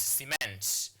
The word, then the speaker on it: cement: So you stress on the second syllable here. So it's cement.